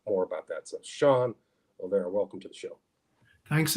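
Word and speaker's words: O'Laoire: His name is Sean Olera. His last name is spelled Olaoira, and he just published a book.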